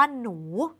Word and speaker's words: หนู: หนูเนี่ย เขียน แบบ นี้ ใน การ อ่าน เด็ก ๆ จะ เห็น ว่า เรา ออก เสียง ว่า หนู ซึ่ง เรา จะ ออก เสียง เหมือน มี ห หีบ นำ เพราะ ใน การ เขียน